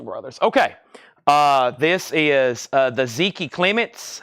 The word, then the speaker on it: Zeke: This is the Zeke Clements. However you say his name, Zeke or Zeke. Zeke, Z-E-K-E.